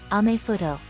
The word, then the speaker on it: アメフト: In the katakana alphabet, American football is pronounced American football, and much like majifuto, it is colloquially known as amefuto.